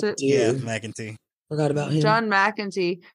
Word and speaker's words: McEntee: Is that how you pronounce it? Yeah, McEntee.